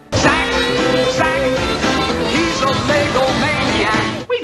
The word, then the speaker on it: Zach: Or was it Jack? Zach, he's a Lego maniac. Wait a minute, is it Jack or Zach? Here it's spelled Zach, but in this commercial you definitely hear a J.